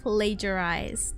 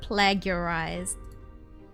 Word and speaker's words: plagiarized: pronunciation oh plag plagiarized plagiarized is it's plagiarized it's not plagarized okay got it it's not plager yeah it's plagiarized I